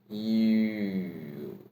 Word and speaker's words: ü: Yu is the first half of letter U's name. Yu, Yu, without U sound. The more practical way is shaping your mouth to U while saying E, E, E.